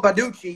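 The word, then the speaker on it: Baldacci: David Baducci, Badaki. Is this how you pronounce it? Oh, Baducci, yeah, the crime writer.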